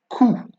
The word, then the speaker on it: coup: Then we have drap, and coup. All right, coup. As you can see, whenever I pronounce these words, you cannot hear the P at the end.